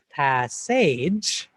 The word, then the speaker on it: passage: Edge, however, is spelled age, A-G-E. So if we remember how to spell the word age, A-G-E, we can think to ourselves, passage, even though we know it's pronounced passage.